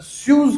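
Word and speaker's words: Suez: Canal, the Swiss canal, the स्यूज canal पढ़ते हैं इसको, द स्यूज कैनाल।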